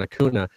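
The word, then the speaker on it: Acuña: So it definitely is Ronald Acuna, just for people.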